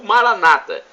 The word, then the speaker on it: Maranata: na última sílaba ou Maranata com a tônica na penúltima sílaba como dizem nossos irmãos separados os evangélicos não importa a pronúncia